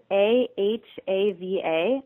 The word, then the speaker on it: Ahava: It's spelled A-H-A-V-A, ahava, and ahava in Hebrew means love, but we say there's no love in occupation.